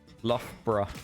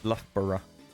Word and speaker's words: Loughborough: Loughborough. Yeah. Loughborough. I mean, people don't pronounce it like borough, do they? They pronounce it like bruh. Loughborough.